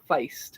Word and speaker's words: feist: Pronounce it like fight, but it's feist.